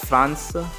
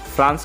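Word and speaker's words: フランス: और उसके बाद आता है गाइज फ्रांस। फ्रांस को बोला जाता है फ्रांसू।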